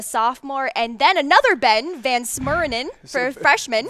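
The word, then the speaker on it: VanSumeren: We have Ben Mason, the sophomore, and then another Ben, Van Smurinen, for freshman. Van Summerin, that's how I pronounce his name.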